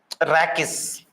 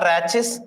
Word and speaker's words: rachis: That mid rib we call it as rakis. Rakis or rachis. Somebody pronounce like that.